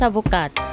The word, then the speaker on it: avocate: And if you are a female lawyer, you would say je suis avocate. So the final consonant sound is being pronounced. And the final consonant sound of avocat is T, avocat.